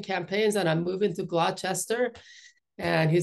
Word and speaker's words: Gloucester: it I'm switching campaigns and I'm moving to glester and he said you first got to learn the how to pronounce the name so here I am 30 years later I live in Gloucester Massachusetts and um began working with fishing communities